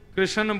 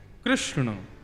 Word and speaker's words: कृष्ण: लाल की जय बंधुओ कई लोग इस नाम को अशुद्ध बोलते हैं कई लोग कृष्ण बोलते हैं कई लोग कृष्ण बोलते हैं कोई कृष्णा बोलता है भगवान का नाम शुद्ध उच्चारण करो नाम क्या है कृष्ण भगवान जय श्री कृष्ण कृष्ण